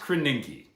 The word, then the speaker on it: Krasinski: It's pronounced Krasinski.